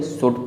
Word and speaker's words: should: Next word हमारे पास दिया हुआ है शुड, SHOULD, शुड, इसे हम शुल्ड नहीं शुड पढ़ेंगे, और शुड का मतलब चाहिए होता है, एज अ एडवाइस इसका प्रयोग किया जाता है।